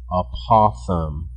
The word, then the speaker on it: apothem: means apopham and p we spell that out apothem not a possum like on the side of the road but no joke a